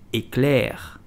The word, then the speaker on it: éclair: So, how do you pronounce it? You will simply say éclair.